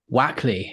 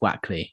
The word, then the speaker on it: Wakely: Wackley. It's written Wakely, but it's pronounced Wackley. Yeah. I didn't want to say it that way because I thought that would be insulting if it was Wakely, but it's Wack.